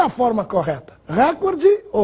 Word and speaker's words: recorde: Ouve-se cotidianamente a forma recorde, com uma tonicidade na antepenúltima sílaba, portanto, como proparoxítono. Porém, essa forma não está registrada nos dicionários e no vocabulário ortográfico da Academia Brasileira de Letras. A forma registrada é recorde, sem acento.